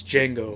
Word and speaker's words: Django: And he's like, "It's Django. The D is silent."